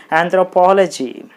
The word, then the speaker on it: anthropology: So you put the stress mark on the syllable po, then it will be anthropology, anthropology, anthropology.